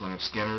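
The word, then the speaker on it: Lynyrd Skynyrd: Leonard Skinner is pronounced Leonard Skinner.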